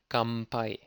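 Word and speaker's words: 乾杯: 乾杯、かんぱい、乾杯、 Kampai is spelled with an N, but Japanese people like to pronounce it with M sound, so it's kampai.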